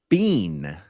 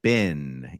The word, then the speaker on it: been: Rinder says bean, like we say bin. Yes. How have you been? Yeah, I don't know. Now I've got attention on it. Well, how do you say it? Say, hey, how have you been? How have you been? Been. Okay, yeah. Mike says bean.